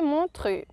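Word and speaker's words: Montreux: the French speaking part I would say like the french-speaking people I say montreu say it very very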